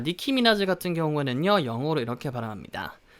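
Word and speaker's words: Nicki Minaj: 이름입니다 자 2분이 를 우리말로 어떻게 하죠 니키 미나즈 라고 하죠 니키 미나즈 니키 미나즈 가 그나마 제일 근접한 소리 어서 우리말로 이렇게 옮긴 건데요 자 니키 미나즈 같은 경우에는요 영어로 이렇게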